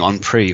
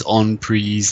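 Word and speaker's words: en prise: ears he told me I kept saying on pre on pre on pre and they kept telling me in banter blitz rhymes with cheese on fries never forget that down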